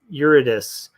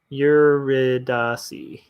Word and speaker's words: Eurydice: Okay, Mama Soto, what is Orpheus and Eurydice?